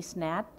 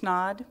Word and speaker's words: Snod: Energy presentation by snap did I say that correctly yes it's a it's pronounced snod it's not I always tell people it rhymes with odd they can remember it